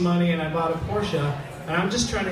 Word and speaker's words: Porsche: Sometimes people call me an elitist because I drive a Porsche, which is a ridiculous statement because it's pronounced Porsche.